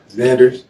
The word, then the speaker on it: Zanders: how do you say your last name Zanders Zanders I don't like Mexican people's names how